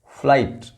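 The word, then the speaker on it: flight: टाइट लाइट माइट good यहां भी जीच silent है फ्लाइट ब्राइट site Sai हाई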